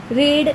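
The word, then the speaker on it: read: पण उच्चार वेगळा आहे रीड वर्ब वन ला आपण रीड बोलतो वर्ब टू ला आपण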